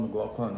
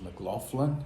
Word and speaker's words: McLaughlin: I always said John McLaughlin all my life, but I actually think that the way to pronounce his name is McLaughlin, so I'm trying to get used to saying it that way.